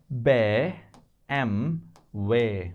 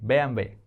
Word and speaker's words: BMW: brand called BMW now can you say this in German if you have watched chapter 5 alphabet b m way bway that's how they say German car bway they don't call it BMW right bway if you